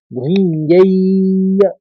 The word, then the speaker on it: भुञ्जीय: और आखिरी पंक्ति यानी चौथी पंक्ति में भुञ्जय्य, बड़ी ई की मात्रा है तो दीर्घ उच्चारण होगा। भुञ्जय्य भोगान रुधिर प्रदिग्धान।